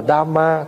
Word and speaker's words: Dhamma: Tại vì tiếng Việt đọc là pháp, nhưng mà tiếng Pali gọi là Dhamma.